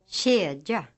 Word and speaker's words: kedja: K is pronounced like a light ch, a sound similar to the sound in English birch, inch, etc. Listen to the examples. Kedja.